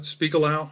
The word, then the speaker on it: Spiegelau: nevada slash oh gosh spiegel speakalou i believe is how you pronounce it it's a special